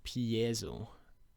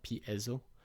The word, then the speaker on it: piezo: it pronouns pi yeah piezo really it's pronounced like that not p ezzo i like pi zero